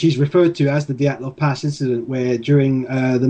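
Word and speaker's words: Dyatlov: Okay, the Dyalov Pass Incident, and that is the correct, well, at least it seems to be the correct pronunciation of it, because that's how it's pronounced in the film, which is about a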